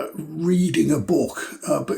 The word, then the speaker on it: Reading: these bizarre walls, and for US viewers, Reading is spelt like reading a book, but it's pronounced Reading.